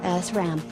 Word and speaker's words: SRAM: 228.1.6 is static RAM or SRAM, pronounced SRAM. Memory used on the motherboard loses data rapidly and must be refreshed often.